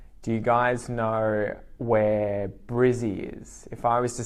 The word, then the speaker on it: Brizzy: We take the first syllable, we turn it, we add the IE or the Y sound on the end, and we make it Brizzy. Brisbane, Brizzy.